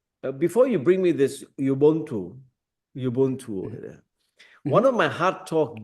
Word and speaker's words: Ubuntu: we are enough that you brought up, that Ubuntu. Is that right? Is that how you pronounce it?